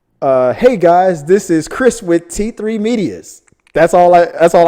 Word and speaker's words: T3 Medias: get the name wrong he would always call it uh t3 medeas it was so funny and i think the last time i sent something in he finally said it right t3 medias he finally said it